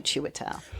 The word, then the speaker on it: Chiwetel: The I throws you off because it's CHIW, but you just think of it as CHEW, Chiwetel.